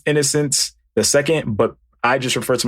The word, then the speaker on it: Innocenceii: n o c n c e i i pronounced innocence the second but i just refer to myself as innocence